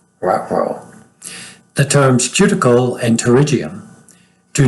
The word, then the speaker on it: pterygium: It looks like pterygium, but it's pterygium.